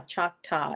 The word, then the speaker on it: Choctaw: beans not good choctaw ah choctaw is how it's pronounced thank you dixie oh